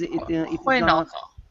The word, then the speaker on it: Hajnalka: It is Hojnalkal. yeah, it is a bit strange for foreigners.